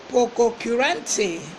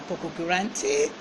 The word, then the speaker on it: pococurante: And it is Pococurante. Pococurante. It is spelled P-O-C-O-K.